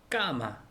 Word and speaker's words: cama: 그래서 세나 저녁 식사, 세네 이렇게 영화 이렇게 되는데 아오우하고 모음이 붙으면은 세하고 아오우하고 붙으면 끄 발음이 되더라고요. 그래서 까마, CAMA, 까마 침대라는 뜻이고요.